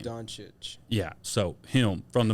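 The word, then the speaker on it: Dončić: uh how do you say luca's last name don chitch yeah so him from the mavs i don't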